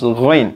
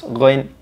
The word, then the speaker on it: غين: able also to pronounce ghain if you know that it is the brother of the kha. So just pronounce ghain at the same point of articulation with kha.